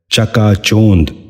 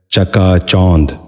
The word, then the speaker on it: چکا چوند: غور سے سنیے، چابک۔ دوسرا لفظ ہے چکا چوند۔ یہ غلط تلفظ ہے، درست تلفظ ہے چکا چوند۔ دوبارہ سنیے، چکا چوند۔